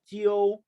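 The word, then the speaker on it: 九: Now how to pronounce G here? Jeep, right? Eo, eo, jiu, jiu, jiu, right? Eo, e, our, e, u, yuan, u. Now join together. Eo, eo, jiu, jiu, jiu. Jiu means 9.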